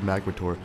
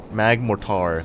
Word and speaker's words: Magmortar: paused the video like he said magmotor let me let me correct him no mag Mor Magmortar mag morar that's that